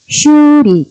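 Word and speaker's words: 修理: 이제 음으로 발음할 때 딱할 숫자는 슈 길게 발음을 하셔야 돼요 슈 예를 들면은 수리 수리하다 뭐 수선하다 그랬을 때 우리 수리를 갖다가 슈리 길게 발음을 하시면 돼요 이건 수리라는 뜻이겠죠 그런데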